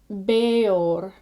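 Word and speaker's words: Bëor: And these are not run together, but they are 2 syllables. And these are combinations that are written as EA with a umlaut above the E, the 2 little dots, and an EO with an umlaut above the E, as in Beor, or at the beginning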